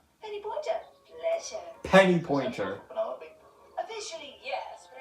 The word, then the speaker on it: Penelope: Penelope? Officially, yes, but I never can be bothered with all 4 syllables of it.